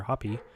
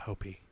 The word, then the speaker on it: Hopi: Pueblo people Apache and Hopi are Hoppy each have their own unique interpretation of what a skinwalker might be it's pronounced Hopi Hopi please don't say I